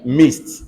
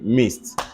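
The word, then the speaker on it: midst: any other example where did they silence eh missed m-i-d-s-t missed what else all right let's go to something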